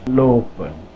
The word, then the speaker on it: lopen: Here we go again, that vowel, consonant vowel, meaning this O is long. This word is pronounced lopen, lopen.